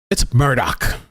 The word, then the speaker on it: Murdaugh: know that it's always something like that right Murdoch make sure you get the alleged killers name